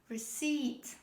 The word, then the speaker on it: receipt: purchase this is receipt don't say receipt it's not receipt this is receipt the next word the